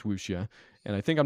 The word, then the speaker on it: wuxia: to be useful either way is what is wusha and another word i might not be saying